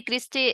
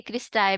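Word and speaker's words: cristae: ठीक है, फिर है जी क्रिस्टे, क्रिस्टे इसको बोलेंगे, क्रिस्टाए भी बोलते हैं इसको, डिफरेंट प्रोनाउंसिएशन है इनकी, इस वर्ड की। अच्छा जी, क्रिस्टाए भी बोल सकते हैं, क्रिस्टे भी बोल सकते हैं।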